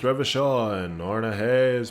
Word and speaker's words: Revachol: Revachol is pronounced Revachol, and Ornahe is pronounced Oranya.